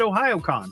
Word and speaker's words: Ohayocon: I thought that was Ohayocon, but I looked at one of their videos. They call it Ohayocon, so we'll find out what's going on with that.